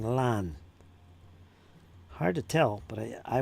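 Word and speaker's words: Lannes: Lan was that was a learning one.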